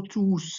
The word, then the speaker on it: tous: Vous devez prononcer le S final quand le mot tous est placé devant un verbe.